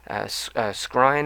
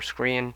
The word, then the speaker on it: Skrein: And the main villain was a character known as Atticus Noble, who was portrayed by Ed Skrein, I believe is how you pronounce his name, or Skrein, Skrein, and he does a really good job.